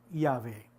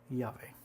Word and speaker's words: Yahvé: las 4 consonantes, como Yahvé. Entonces, de ahí donde pues podemos deducir, ¿no?, según estos estudios, que la verdadera pronunciación del nombre de Dios es Yahvé.